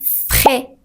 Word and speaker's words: frais: La combinaison de AI se prononce généralement comme E. E. Ce n'est pas EI ou aïe. E. Par exemple, on dit français. Ce n'est pas français. Ou mais. Ce n'est pas mais. Ou frais. Alors, ne la prononce pas comme aïe ou aïe.